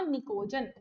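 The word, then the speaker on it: pnictogen: हिंदी में निकोजन, इंग्लिश में P silent आएगा तो आएगा निकोजन।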